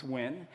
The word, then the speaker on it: Nguyen: It's a play on my last name, Nguyen, which no one can pronounce in the US, so it's Nguyen.